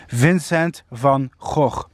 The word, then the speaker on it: Vincent van Gogh: famous painter Vincent fauxhawk yes I'm a Dutch guy so I can pronounce that name correctly Vincent van Gogh well he he found